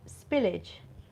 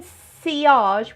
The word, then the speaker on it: sillage: power on me is it is that called spillage um i think you mean ciarge which is is pronounced it's pronounced cr is spelt as if